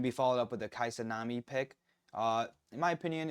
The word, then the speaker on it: Kai'Sa: So like it's going to be the Casai. How do how do you pronounce that? It's it's Kai Kaisa.